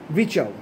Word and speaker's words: Virchow: আরটা উজ্জ থাকে, স্পেলিংটা হচ্ছে VIRCHOW, যাই হোক উচ্চারণটা হবে রুডলফ ভিচাউ।